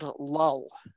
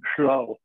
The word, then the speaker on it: Llull: In Welsh, it would be Llull.